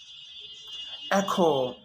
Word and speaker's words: echo: The H is silent. Choir, echo, echo, with G, ghost, ghost, with an R, rhythm, or rhyme.